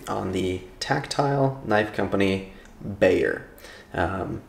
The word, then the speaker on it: Bexar: name come came from it's pronounced bayer like b-a-y-e-r so you're welcome for